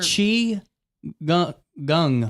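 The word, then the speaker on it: qigong: I cannot remember how to pronounce it. And I'm so sorry about that. But um these are chi gung.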